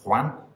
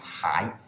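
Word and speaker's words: 还: Number six can be pronounced huan, or it can be pronounced hai. If it's hai, then it appears in words like hai yo or hai mei yo and means still or yet. If it's huan, then it can mean return or repay, like huan qian, to repay money.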